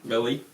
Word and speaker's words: melee: looks like it should be Mele really yeah Mele it's pronounced Mele usually and that also means a